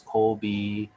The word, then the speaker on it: Kobe: be kobe bryant not kobe bryant supposed to be kobe if you ask uh his parents his name kobe actually coming from the city uh in japan now don't ask me